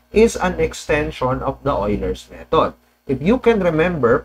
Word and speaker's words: Euler: approximate slope that's why Ho's method okay EU Oiler oi pronunciation so hin method is a type of